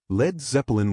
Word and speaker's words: Led Zeppelin: Drop the from bleed so Americans wouldn't mispronounce it. Lead Zeppelin was born.